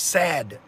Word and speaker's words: SAD: I can add because the standard American diet acronym is pronounced sad alright cuz that's exactly